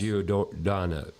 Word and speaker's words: Giordano: Ivy and the owner, Mike Giordano. I said it right. Yes. Giordano.